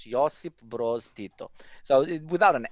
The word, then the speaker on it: Josip: You're extremely close, because before you called him Joseph, like the dude from the Bible, but Joseph is very close. Josip Broz Tito.